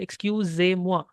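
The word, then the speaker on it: excusez-moi: excuse me will say excuse Mo here the S is pronounced like Z in English so it is Excuse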